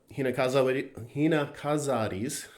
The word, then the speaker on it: Hinakazari: And you'll see a little bit of variation in this layer between the Kansai, the Kyoto area, Hinakazaris. I'm gonna look that up real quick. Make sure I'm pronouncing that right, because I'm gonna use that word a couple times.